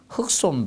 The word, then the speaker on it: 흙손: 이렇게 바르는게 있습니다 예이 흙손이라 합니다 흑손 발음으로 해 주시면 되겠고 그리고 뭐 마무리 작업에서